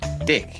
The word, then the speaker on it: dick: It's just dick. It's dick. Yeah, it's pronounced the same the same spelling. It's not the ch. So, it's the exact same pronunciation, too.